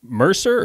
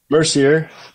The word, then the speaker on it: Mercier: We are here today with Mercer or Mercier. How do you say that? Mercier. Mercier. Close. Yeah, you said it like the French Canadians, Mercier.